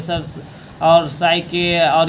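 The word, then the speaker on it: Psyche: यहां पर ये देखिए साइकोलॉजी जिस प्रकार से पढ़ते हैं पी यहां साइलेंट होगा ना तो सके और टू बोल रहा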